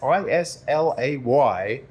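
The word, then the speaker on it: Islay: Isle of Isla and that's i-s-l-a-y but pronounced Isla and that's where all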